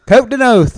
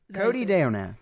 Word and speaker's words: Cote Deonath: Coat Denath.